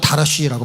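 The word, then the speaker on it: דרש: 여러분, 여기서 찾다라는 말은, 찾는 자가 했을 때 찾다라는 말은 히브리어로 다라시라고 발음합니다.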